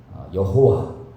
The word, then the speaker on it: 여호와: 먼저 하나님은 여호와 혹은 야훼라고도 발음하기도 합니다.